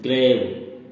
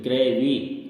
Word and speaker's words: grave: ग्रेव means होता है कब्र, लेकिन इसमें ई साइलेंट वर्ड है, लिखा जाएगा लेकिन बोला नहीं जाता है। अगर बोला जाएगा तो हम बोलेंगे फिर ग्रेवी, लेकिन नहीं, इसमें ई साइलेंट है, इसलिए इसको ग्रेव ही बोलते हैं।